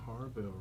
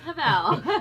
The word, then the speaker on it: Havel: We got Miss Harville right here. Did I pronounce that right? I answered a Havel. Okay. But it's Havel.